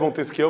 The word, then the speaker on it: Montesquieu: Se escreve Montesquieu, mas se pronuncia Montesquieu, é francês.